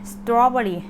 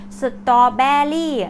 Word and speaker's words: strawberry: สตอเบอร์รี่ ก็ อ่า ST สตอเบอรี่ สตอเบอร์รี่ นะ คะ ไม่ ใช่ สตอเบรี่ ไม่ ใช่ นะ คะ สตอเบอร์รี่ Strawberry Strawberry flav อะไร แบบ